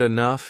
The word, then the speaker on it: enough: For example, the word enough is IF. This helps us see that the first sound of enough is actually an i sound, not an e sound. Even it's spelled with e.